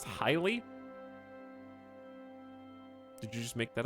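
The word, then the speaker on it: Haile: Imperial Dynasty to match is pronounced highly did you just make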